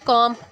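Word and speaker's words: comb: कॉम कंगा, B silent किया, wrong are से और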